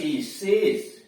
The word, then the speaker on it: chaise: CHAISE शेष, CHAISE तीसरे दोनों में देख रहे हैं बड़ा वाला स आया हुआ है, मतलब हल्की घोड़ा गाड़ी को शेष कहते हैं या उसी को विशेष भी कहते हैं।